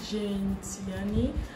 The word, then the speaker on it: Gene Tierney: So today I plan on creating Jane Tiani. That's how her name is pronounced.